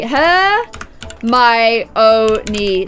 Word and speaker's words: Hermione: but here we go so my name is her my only her my oh need there we go and